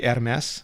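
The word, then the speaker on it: Hermès: It's technically Hermes in French, because you got to roll the R and then mess.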